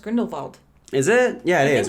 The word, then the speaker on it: Grindelwald: I think it's like um I think it's pronounced grindel vald is it yeah it is they keep saying